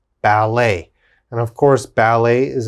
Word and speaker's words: ballet: d e t now in french when we're speaking french e t has a a sound a so let's look at the first word now we would pronounce this bal a ballet ballet and of course ballet